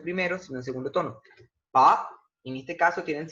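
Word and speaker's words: 八: Se pronuncia pa, pa, fíjense como la B tiene un sonido de P, de la P en español.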